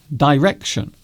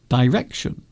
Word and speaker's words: direction: Is the word direction pronounced two ways? I've only really heard direction. Direction. Although you might hear some people say direction. So it is very similar to neither and neither.